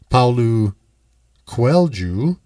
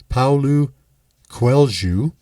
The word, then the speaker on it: Paulo Coelho: hearts treasure and as the most excellent author paolo quelju and i stumble on that a little bit it is spelled paulo coelho it looks like but i looked up the pronunciation paulu quelju points out in his amazing book the alchemist